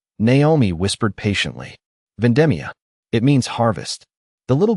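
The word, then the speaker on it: vendemmia: Naomi smiled gently as she corrected the child's pronunciation of an Italian word written on a scrap piece of paper. "Not vendetta." Naomi whispered patiently. "Vendemia.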